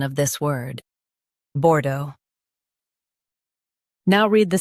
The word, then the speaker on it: Bordeaux: Both US and UK have the same pronunciation of this word, Bordeaux. Now read the syllables shown on the screen naturally. Bordeaux, Bordeaux. Stress the do syllable and keep bore light.